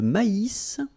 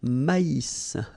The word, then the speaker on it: maïs: L'avoine, le blé, here, accent aigu, et Le maïs, so here you get this tréma, so maïs, maïs. And then you pronounce the final S, maïs.